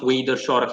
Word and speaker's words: Wiederzorg: One of them is called Plantation Wiederzorg. Wiederzorg, it's pronounced Wiederzorg in Dutch.